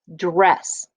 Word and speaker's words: dress: Dress. Remember, only one S makes it sound. The other one is silent, but it is a bonus letter.